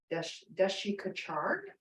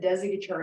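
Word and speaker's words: Desikachar: by his son tkb dashikachard is actually how you're supposed to say his name he said Desi guitar to make it easy for us which I just love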